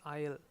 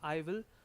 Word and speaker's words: I'll: for i will remember i'll should be pronounced that as i'll not either if you pronounce it as i will you will lose marks because PT e wants